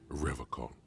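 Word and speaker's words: Revachol: forever call he pronounces rivercon with a hard k unlike other people serious question time this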